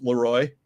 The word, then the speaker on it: Leroy: We got Leroy, Leroy, which we pronounce Leroy.